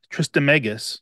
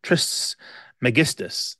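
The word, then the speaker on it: Trismegistus: um it's based on the teachings of Hermes trist megus I think I said that right trist megistus there we go I always have trouble with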